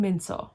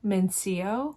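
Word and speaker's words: Min-seo: And obviously it's written out Moon Min dash So, S-E-O, which is pronounced So. But the entire time in the audiobook narration, it was saying Seo, Min Seo, which is incorrect.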